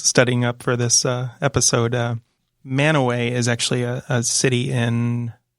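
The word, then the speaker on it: Mantua: village in Portage County ma n tu a there you go no I could say a man away could not listen earlier indeed what that is so odd that you I knew it's some of those pronunciations but I didn't quite know all the man away I'm never even higher confession I only learned how to say man away correctly like a few years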